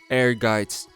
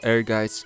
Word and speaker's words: Ehrgeiz: I may sound pretty silly saying it, but I'm pretty sure the right pronunciation of the title is Ehrgeiz, according to my research. It means ambition in German, but if I'm saying it wrong, don't bother correcting me in the comments.